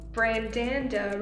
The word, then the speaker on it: Brandanda: This is Brandanda Reviews. That's how you officially pronounce it.